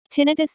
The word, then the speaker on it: tinnitus: Tinnitus. Tinnitus, pronounced tinnitus, or ringing in the ears, is the sensation of hearing ringing, buzzing, hissing, chirping, whistling, or other sounds.